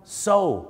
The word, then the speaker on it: sew: ไ ร ไ ห ม ค รั บ so ถู ก ต้ อ ง แ ล้ ว